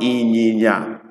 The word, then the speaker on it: inyinya: It's called inyinya. Please pay attention to the pronunciations, because if you don't get it right, it means something else.